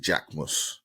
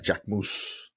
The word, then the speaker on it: Jacquemus: We're going to start off with the J Force 1, Nike and Jacquemus. I believe I'm saying that right. Jacquemus. Right? It's French. So you've got to say it right.